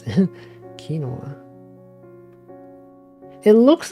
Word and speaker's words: quinoa: of not quinoa oh right that's how you pronounce it kinoa it looks like it should be pronounced quinoa though strange words are weird play your